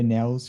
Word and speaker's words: Nelles: said it again uh did last name nico nels is that it yeah that's it yeah yeah awesome it's very good pronunciation no way yeah yeah i should have